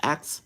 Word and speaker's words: Acts: Acts Acts. It sounds like you're saying axe. Like an axe that you chop wood or something else.